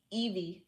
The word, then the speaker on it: Eevee: E's name very much e v Eevee that's pretty much how you pronounce the name and in chapter two